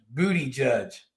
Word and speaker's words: Buttigieg: It's Booty Judge. Booty Judge. I think that is how you say it.